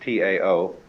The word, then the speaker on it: Tao: The way of the Tao, that is spelled in English T-A-O, but by Mandarin speakers pronounced approximately Tao. The scholars who transliterated these words had a way of transliterating them so that only if you were in the know and were a scholar could you pronounce them properly. They might just as well have spelled it D-A-O or D-O-W.